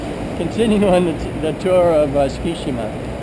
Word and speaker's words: Tsukishima: It's kind of like Tsukishima, but they pronounce it Tsukishima.